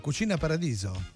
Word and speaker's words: cucina paradiso: Cucina paradiso. Cucina paradiso. Muy bien, la S es más suave, ¿no? Cucina paradiso.